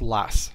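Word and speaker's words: loess: l o e SS now I've seen that pronounce a couple different ways one is a and another one is less and I like less so it's kind of sounds like you know your L SS less and what less is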